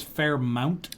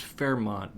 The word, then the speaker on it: Fairmount: I believe it's pronounced Fairmont, but I think it's spelled Fairmount.